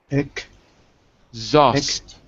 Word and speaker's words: exhaust: Not shoshed, but z, like zoo. Zost. Exhaust. Yeah. But you gotta separate it. You gotta separate the syllables. So start with this. Zost. Just say that. Zost. Shows. Not sh, but z, like zebra. Zost. Zost. Just. Good. Then you put the ek on it.